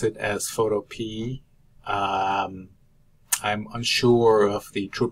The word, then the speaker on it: Photopea: a reddit article that the creator of the site actually calls it photo P as if it were a sweet pea at the end so if you have